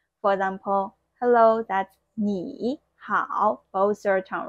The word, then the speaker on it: 你好: We're going to make the first third tone character second tone. For example, hello, that's 你好, both third tone, right?